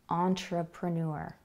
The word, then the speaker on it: entrepreneur: So that is the schwa sound coming out again, but with a different vowel. The first word, amazing, is spelled with an A, and the second word, the schwa sound, is spelled with an E, entrepreneur.